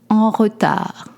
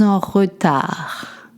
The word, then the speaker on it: en retard: Être en retard. Such as I am late. Je suis en retard. You don't pronounce the D at the end.